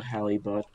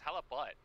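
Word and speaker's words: halibut: how good is a halib butt a what a a halit a halab bit come on you got to say it properly it's hella butt hella butt yeah guys gosh oh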